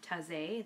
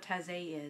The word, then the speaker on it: Taizé: And it is by Brother Roger of Taizé.